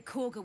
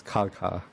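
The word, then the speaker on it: Kagha: funny thing right like k-e-g-h-a I would have easily pronounced this kalka that's yeah it's very weird that they chose like the the GH sour because it could mean a lot of things depending on what language you used to yeah I know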